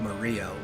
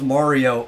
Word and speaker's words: Mario: A little, because that's not how you would pronounce that name in Italian. You actually wouldn't even, like, give it a hard R sound. It'd be like Mario. Kind of like, you know, Mario.